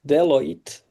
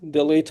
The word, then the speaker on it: Deloitte: So this is example how big technical companies, enterprises, this level like Deloitte, Yeah. maybe I'm not pronouncing, you can No, correct. it's correct. Yeah, Delight. Yeah. Like you're Deloitte. saying it right.